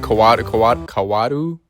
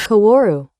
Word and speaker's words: Kaworu: The main point of concern is how they toned down Shinji and Kawaru? Is that how you say it? Kaworu.